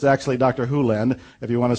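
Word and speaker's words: Hew Len: dr len's world and it's actually dr hulen i've shortened it from e to dr len but it's actually dr hulen if you want to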